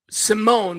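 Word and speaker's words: S1m0ne: There's a movie 2002 H 2002 called Sim Simone, but it's spelled S1 M Ze. So it's Sim One.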